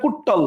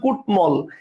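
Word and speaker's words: কুড্মল: আমি কিন্তু বলি না কুট্টল বলতেছে কুটমল।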